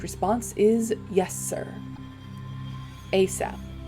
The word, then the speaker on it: ASAP: response is yes sir asap pronounced a sap an acronym of as